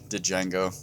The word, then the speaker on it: Django: Then Django. Fuck it up. And the then, D is silent.